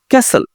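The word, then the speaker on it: castle: গুলোও দেখতে পারবো, তবে আমরা আগে আসুন টি সাইলেন্ট সেইগুলো দেখে নেই। Here you সি টি। আমরা প্রথমত দেখি বোচা, কসাই। ক্যাসেল, দুর্গ, কেল্লা।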